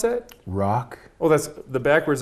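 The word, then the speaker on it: Rhok: And how do you pronounce that? Rock.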